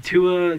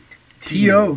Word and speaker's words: Tua: And then Tua gets... How do you say Tua? T.O. But T.U. I've learned.